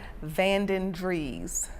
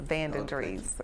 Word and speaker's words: Vandendries: Vandendries, V-A-N-D-E-N, capital D-R-I-E-S, Vandendries, yes.